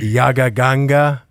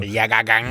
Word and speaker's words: Yagaganga: But you can follow me on Instagram at Yagaganga, which is how you say it, just in case anybody who's watching this doesn't know. Yagaganga.